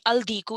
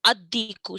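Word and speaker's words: الديك: And then diku wouldn't be al-diku, it'd be ad-diku.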